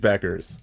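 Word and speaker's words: Bueckers: You know, on the same realm of mispronunciations, give me Paige Buckets. Paige Beckers.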